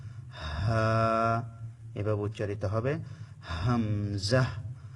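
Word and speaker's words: ح: করব সেভাবে আপনারা আমার সাথে সাথে প্রত্যেকটা অক্ষর উচ্চারণ করার চেষ্টা করবেন এতে করে আপনাদের শিখা অনেক সহজ হয়ে যাবে দ্বিতীয় নাম্বার মাখরাজ হচ্ছে কন্ঠনালীর মাঝখান হতে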